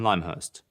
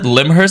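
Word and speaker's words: Lymhurst: everyone was dead wrong it's called limehurst ladies and gents whoever calls it limur now from now on should get stoned to death limehurst all right we call it lime we don't call it limb we call it lime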